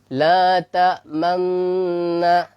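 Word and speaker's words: لَا تَأْمَنَّا: La ta'manna dicampurkan atau dikombinasikan antara fathah la ta'man terus dengan dhammah. Kenapa? Karena memang ini asal katanya la ta'manuna. Jadi wawnya itu dibuang. Makanya datanglah dia isyarat dhammah.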